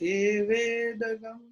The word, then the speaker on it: evedam: Yeah, evedam has a dot on top, but it is pronounced evedagam. No.